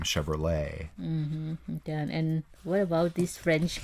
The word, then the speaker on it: Chevrolet: And this car, Jan, in Thailand we call Chevrolet, but actually it's actually Chevrolet. You don't pronounce the T, right?